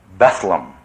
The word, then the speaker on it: Bethlehem: It shows a ward in actually it's spelled Bethlehem hospital in London. It was pronounced Bethleam and it became Bedum, the famous name for synonym for the nutouse, but it was originally the it was Bethlehem hospital.